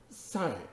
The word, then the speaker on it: sal: 샐러리, 솔저, 병사는 모두 살, 이게 라틴어로 살이라고 읽어요. 살.